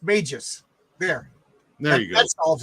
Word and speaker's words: Magus: And from the chat, it's pronounced Magus.